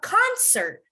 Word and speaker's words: concert: to concert correct so and now you would emphasize the beginning but for a verb you would emphasize the end right so let's try